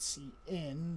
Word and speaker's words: cin: and there's something called c in that's used for input okay see i'll enter your password and password okay the name cn refers to the standard input stream pronounced cn for character input second operand of the